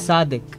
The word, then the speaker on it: Sadiq: name is sadik uh we don't really pronounce du we we pronounce it as the the the the so it's sadik okay sadic yeah it's